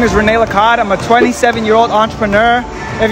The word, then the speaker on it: Lacad: Lacad, yeah.